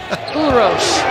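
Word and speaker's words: Uroš: Urosh. I thought you pronounced it perfectly.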